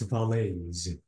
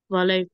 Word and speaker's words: valet: word is valet it's valet valet exactly without a without is it's valet okay we notice that the t is written but it is silent how can I read